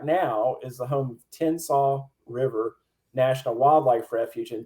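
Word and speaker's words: Tensas: is the home of tennsaw river national wildlife refuge and tinsaw despite the pronunciation is t-e-n-s-a-s though it sounds like slaw uh and that's where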